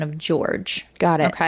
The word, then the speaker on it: Jorge: But I just want to clarify that so anybody's like, "Oh, actually it's J O R G E. Jorge." This is how he liked his name pronounced. He liked it George.